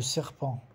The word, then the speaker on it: serpent: Et le serpent também, o T não se pronuncia, do cobra. Le serpent, no final.